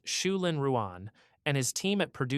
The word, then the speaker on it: Zhulin Ruan: And finally, in 2021, Professor Zhulin Ruan, pronounced Shulin Ruan, and his team at Purdue University pushed the reflectivity number to its current world record.